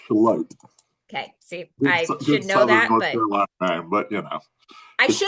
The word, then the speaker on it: Charlotte: It's Charlotte.